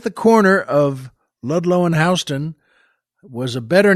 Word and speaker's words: Houston: Now, Houston, as you may know, is spelled like Houston. And there's a reason New Yorkers pronounce it Houston.